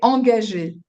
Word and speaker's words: engagé: we say engagé. Engagé. Engagé. Okay. In so that French, refers to contract. it is engagé.